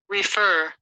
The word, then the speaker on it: refer: English pronunciation let's begin how do you read this word is it refer or refer or refer the correct pronunciation of this word is refer or refer again refer or refa the second one is